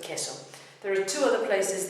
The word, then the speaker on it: queso: The U is silent. And the example was queso for cheese. It's not queso but queso.